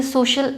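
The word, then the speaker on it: social: सी के बाद आया आई ए, तो हम इसे अगर हिंदी में लिख के भी समझें तो इसे बोला जाएगा सोशल, राइट, फेशियल, राइट।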